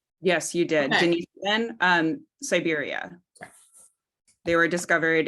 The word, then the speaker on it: Denisovan: You mentioned, and I'm going to probably mispronounce this, the Denisovan. Where were they discovered? Did I say that even close to close? Yes, you did. Okay. Denisovan, Siberia.